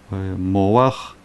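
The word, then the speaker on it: מוח: Например, буква хет в конце слова, мы уже говорили, что там огласовка читается до буквы. Да, не как обычно, что сначала буква, потом огласовка. А если есть хет, то сначала огласовка, потом буква.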